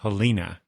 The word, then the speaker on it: Helena: not reading no uh but the fact that Helena now Helena is the right way to pronounce that right her name that's how I